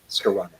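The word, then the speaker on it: Skowronek: Ben Skolnick, however you pronounce his last name. Huh? It rhymes with ironic. Skolnick.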